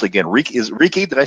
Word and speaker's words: Reiki: And I know that you're trained, and I'm going to mispronounce it again. Reiki? Did I say it right? Reiki.